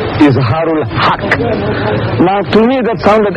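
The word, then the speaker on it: Izhar ul Haq: out in Latin script i z h a r u l h a k k isar hak now to me that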